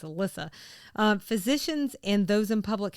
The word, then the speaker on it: Elisa: I think it's Alyssa.